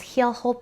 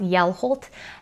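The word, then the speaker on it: Hjelholt: I think I said it was Heelholt, but it's pronounced Yellholt. And you don't pronounce the H when it's in front of a J or a V, I think is what the comment said.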